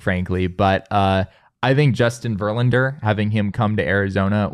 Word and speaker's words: Verlander: My second one would be still most completely unrealistic, frankly, but I think Justin Verlander, having him come to Arizona would be. How do you say that again? Justin Verlander.